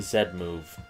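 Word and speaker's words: Z-Move: to the game and yes I'm saying said move for many reasons first I am Canadian second that's how the original Japanese pronounce it because they learn how to speak English from Europeans third I like to bug Americans anyway I love mega evolution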